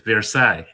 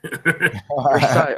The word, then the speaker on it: Versailles: There's also this It's pronounced in French. It's Versailles. Versailles.